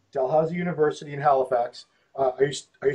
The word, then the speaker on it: Dalhousie: I can't pronounce it. How do you say it? Dalhousie. Dalhousie University in Halifax.